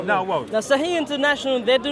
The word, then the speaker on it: Sahih International: Saeed International? How do you pronounce it? Saha International. Thank you. Sahih International. Sahih International.